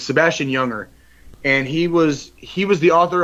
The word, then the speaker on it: Junger: It's pronounced Younger, but it's spelled with a J, so it's Junger. But it's Sebastian Younger, and he was the